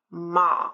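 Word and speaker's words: мама: be put there and how does it sound does it sound like a doesn't sound like oh doesn't sound like e it sounds like ah ma like Arctic okay um let's look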